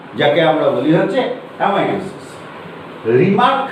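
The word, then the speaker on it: Remak: রিমার্ক বলে একজন বিজ্ঞানী, রিম্যাক উচ্চারণ করলে দাঁড়ায়, তিনি সর্বপ্রথম হচ্ছে এই কোষ বিভাজনটা প্রত্যক্ষ করেন।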